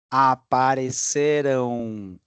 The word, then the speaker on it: apareceram: Logo depois, apareceram R-A-M, não é com O. Com O não, porque O é futuro. Aparecerão. E a sílaba tônica muda. Aqui é como é passado. Apareceram, falaram, comeram, viveram.